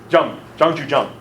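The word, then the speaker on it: Zhang Juzheng: Remember the comic talked about this guy, Zhang Zhuzheng? I don't know if my pronunciation, was that even close? Zhang Zhuzheng? Zhang Zhuzheng.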